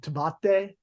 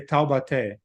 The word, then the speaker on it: Taubaté: Well, you butcher a little bit. You would say Taubaté.